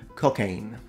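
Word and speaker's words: Cockaigne: their desires were fulfilled it was called cocaine which rhymes with Spain and it was super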